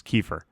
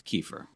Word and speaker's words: Kiefer: That's by the way, that's how it's actually pronounced. Is Kiefer. Yes, Kiefer.